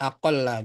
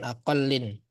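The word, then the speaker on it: أقلّ: Jadi bacanya ini aqalla bukan aqallin.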